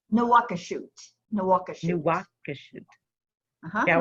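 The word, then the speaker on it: Nouakchott: There's a sheen in there, so Mhm. it makes the pronunciation a little different than the English. New shot or something like that, right? Nawakashut.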